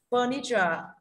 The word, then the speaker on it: furniture: Furniture danh từ trọng âm âm tiết thứ nhất, được chưa?